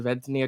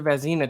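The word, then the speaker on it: Vezina: any goalie and could get the ventania trophy at the end of the year um i hope i said that right i may have butchered it um it's the vasina trophy excuse me i always mix up the letters which is like the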